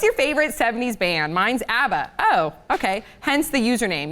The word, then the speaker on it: ABBA: favorite 70s band mine's Abba oh okay hence the username you guys rock boot me please okay one two three I like your Harmony awesome is amazing but I think it's pronounced ABA just saying sorrya yeah pronounce